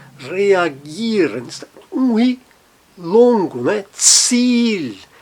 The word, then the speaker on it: Ziel: Ziel, Ziel, veja, um I e sempre o I longo.